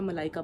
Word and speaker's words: Malaika: correctly यही रखने है अक्सर लोग एम ए एल ए एल आई के ए कर देते हैं मलिका कर देते हैं तो इट्स मलाइका इट्स एम ए एल